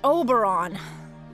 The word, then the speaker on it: Oberon: And I keep telling you, it's pronounced Oberon. You know, like Moberon.